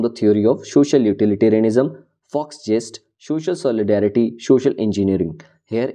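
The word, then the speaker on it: Volksgeist: It is a German word, so we will pronounce it as Fox jest.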